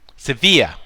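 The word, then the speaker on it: Sevilla: the europa league against is it severe or civilian which one is it i think it's severe severe severe if you're doing the spanish pronunciation oh yes if you're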